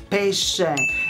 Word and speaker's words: pesce: When you want spaghetti with pesce and not with pesche.